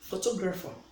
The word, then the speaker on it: photographer: Like if I say photographer, where do we place the stress? Yes, we place the stress on the second syllable. Photographer. So the second syllable attracts the stress.